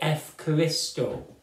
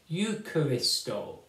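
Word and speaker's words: εὐχαριστῶ: days you will say F Christo it's at the time of Jesus at the time when the scriptures were written it would be pronounced eucharisto so this big long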